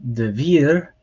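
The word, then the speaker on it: דְּבִיר: give us an idea so divir so that comes with a vocal shva which makes the abrupt sound so the uh and the dagesh on there that's a dagesh lenny and that just tells you that the consonant makes a hard d sound so de vir so here you have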